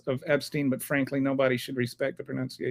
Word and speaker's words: Epstein: But then I heard one of the victims say Epstein. And so I'm like, okay. Rhymes with spleen.